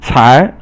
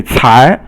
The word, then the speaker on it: 才: 才. You have to kind of really, I guess it's almost like you're spitting out when you say 才. I'm almost saying third tone, but it should be second tone.